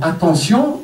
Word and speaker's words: attention: Un T, c'est un T. Attentif. Mais dans attention, il faut le prononcer S.